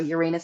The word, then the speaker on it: Uranus: Now, Uranus, the sign of Uranus or Uranus, how you want to pronounce it, is in is in the sign of Taurus.